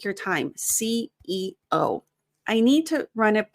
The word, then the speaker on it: CEO: take your time because when I coach non-native speakers and they say CEO, it usually sounds like CO. And the CO is a different position. Make sure, don't say these faster. When you have things that are letters, specifically positions, take your time.